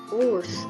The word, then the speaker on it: Wurst: Nah, W ini perlu kita ingat untuk pelafalan W ini untuk gigi atas menempel dengan bibir bawah. Jadi gigi atas menempel dengan bibir bawah. Contohnya wurst atau sosis, dan juga ada Weg.